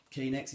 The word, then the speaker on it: Kanex: so that's quite nice i also understand that knx in fact is how you pronounce the company are actually bringing out